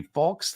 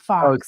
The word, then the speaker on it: faux: to look at options it'll be fo leather fox leather it's faux leather it's Fox it's not Fox see that's kind of